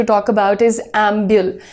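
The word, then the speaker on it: ambul: To talk अबाउट इज़ एंब्यूल। नाउ एम्बियल मैं इसलिए बोल रही हूं क्योंकि सारे जो यहां पर वर्ड्स है ना इसमें इसका प्रोनन्सिएशन एंब्यूल ही रहेगा। एंब्युल भी आप बोलना चाहिए।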